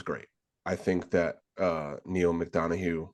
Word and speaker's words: McDonough: I think that Neil McDonough, right? That's how you pronounce his name. I think McDonough.